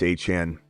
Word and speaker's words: Etienne: It says, Etienne just trolling us. No way it's A-Chane. It doesn't seem to be a trolling attempt, my boy.